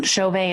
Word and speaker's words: Chauvin: at my name com so and then Chauvet is spelled CH a u VI n got commas